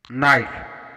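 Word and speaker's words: knife: नाइफ, यहाँ एन से पहले के आया है तो यहाँ पर हम के का उच्चारण नहीं करेंगे, इसको हम नाइफ पढ़ेंगे। नॉलेज, यहाँ पर भी एन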